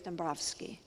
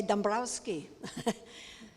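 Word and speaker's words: Dąbrowski: and more about casimir's dombrovsky lots of ways to pronounce his name that's the Polish way that it's people say Dombrowski so he was both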